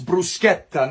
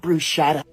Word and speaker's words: bruschetta: white go to Italy you better say it right it's bruschetta not bruschetta hey also you